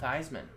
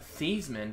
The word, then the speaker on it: Theismann: color patch Auto Joe Theismann formerly thieves Minh but I already changed his name pronunciation of the name to rhyme with Heisman to help his Heisman campaign at Notre Dame little fun fact 14